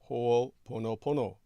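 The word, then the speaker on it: Hoʻoponopono: Yes, Judith Hager would pronounce it Ho'oponopono.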